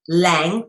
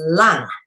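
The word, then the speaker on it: 龙: long and they and you even pronounce it the same way as this L all right with a u sound L not Lang or long with a o you pronounce it the same freaking way which is lung all right is in the air in your lungs that is how that word is said sometimes with one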